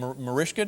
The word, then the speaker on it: Mariska: You have a uh you have a you have a lovely name, Marishia. Did I say it correctly? You said it so well.